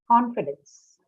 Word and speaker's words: confidence: test here imagine math confidence confidence con what what's the word class for confidence noun okay so stress on first syllable confidence certain is what